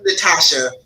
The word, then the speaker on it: Natasha: I'm Natasha, so it's Nadasha, just like Natasha, but people will say it weird.